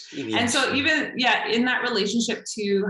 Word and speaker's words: Iwianch: interpret a deep respect, even though even in the way describing the relationship that you, sorry, how do you pronounce it? - Iwianch. - Iwianch.